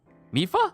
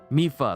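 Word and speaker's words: Mipha: of things are being lined up right now mifa for i am now allowed by this freedom to be with you once again mifa zora champion since i am now a spirit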